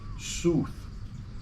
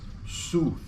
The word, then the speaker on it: South: were pronounced in england it was actually pronounced soothe soothe instead of like the direction south so there was a